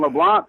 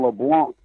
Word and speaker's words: LeBlanc: about it, it's LeBlanc. The C is silent, so you got to say LeBlanc, not LeBlanc.